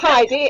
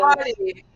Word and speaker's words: Heidi: Jane, are you saying Hardy? Is it not Heidi? No, it's not Heidi, is it, Rebekka? I'm sure it isn't. Hardy. Yeah. But it's spelled Heidi, Hardy, right?